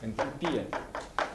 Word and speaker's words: энтальпия: Энтальпия. Это, на английском энтальпия, а по-русски энтальпия на предпоследнее слово ударение.